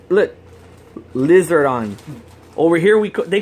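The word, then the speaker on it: リザードン: Lizardon. Oh. Japanese time with Josh. How did you say it? Lizardon.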